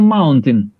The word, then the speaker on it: mountain: Yes, it is a mountain. Mountain. Not mountain. Mountain. Mountain. Tin at the end. Mountain. Yes, we have the spelling AIN, but the pronunciation is tin.